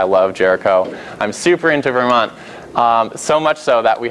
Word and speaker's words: Vermont: it's Milton that's not Vermont it's Vermont there's no like I don't ever pronounce the T at the end of Vermont and then if you're